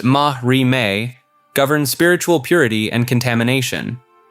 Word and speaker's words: marime: The system of Marame, pronounced Mahri, governs spiritual purity and contamination.